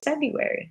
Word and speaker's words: February: februari and other tricky words because today is februari it's februari our first group of words had silent letters where we take a three-syllable word and